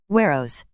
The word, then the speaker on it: Weros: In this chapter, it is made to rhyme with Eros, Weros.